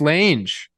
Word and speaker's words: Lange: Riding That's how I around came up with town in Lange. the big old Lange, definitely. Like a mange. Definitely Lang.